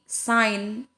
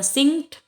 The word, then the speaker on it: sign: disebutkan sampai dengan ini sign ya bukan sing bukan gaya saya jadi sign essien sains sains ya sama